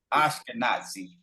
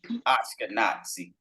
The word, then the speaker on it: Ashkenazi: Pronounce it right. Ashkenazi. Ashkenazi.